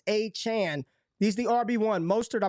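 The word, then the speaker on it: Achane: but Devon a Chan we're gonna say his name right it's a Chan he's the rb1 mustard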